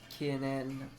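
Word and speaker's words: 記念: Note the difference between the word for no smoking, kinen, actually 4 syllables, kinen, and the word anniversary, kinen, 3 syllables, kinen.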